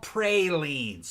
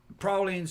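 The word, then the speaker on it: praline: is not like that they're not called pralin all right that's that's PR pralin all right that's a Yankee pronunciation pralin prowlin are like [ __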